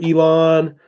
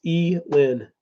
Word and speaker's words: Elin: name is e men Elin is how you say her name it's Elin max so everybody wants to call her Elan or Ellen it's e Lynn is how you pronounce it and she will be